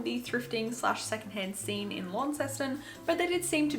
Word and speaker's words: Launceston: tripped up to Launceston I said Launceston the entirety of the time I was there but I'm pretty sure it's Launceston like it's not it's not pronounced how you read it it's like long long system regardless we didn't really